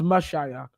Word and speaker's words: Mashiach: Moshiach, or whatever the hell you pronounce it. It's pronounced Mashiach.